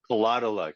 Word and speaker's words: Kolotyluk: A lot of luck with a K. Kolotyluk. Oh, perfect.